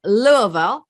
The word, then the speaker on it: Louisville: wiseburg realtors and she is a native from louisville did i say it right yes she did